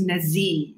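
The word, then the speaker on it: Nazih: And then on top of that, his name is Nazi, which is spelled N-A-Z-I-H.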